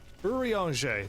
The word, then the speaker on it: Urianger: Urianger.